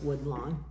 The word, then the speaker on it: Woodlawn: a nice thick caddy woodlawn i don't know if i'm pronouncing that right but that's where we are go ahead sean no it's wood long it's lau wn starting you said starting